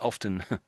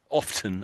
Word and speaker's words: often: So the mo a lot of people don't pronounce the T. Interestingly I think often often I do but often most people don't.